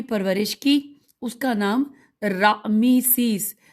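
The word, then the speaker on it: رعمسیس: کی، اس کا نام رامیسیس، ہجے کرتے ہیں پریشان نہ ہو، رے عین میم سین یہ سین، راہ مسیس تھا، اور دوسرا اس کا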